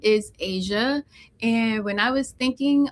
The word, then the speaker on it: Ashia: My name is spelled weird. So, I feel like not a lot of people understand it, which is okay because the H throws people off. Um, so they're like a what is that? Yeah. Exactly. The GPS gets my name wrong all the time. So, um, yeah, it's Asia.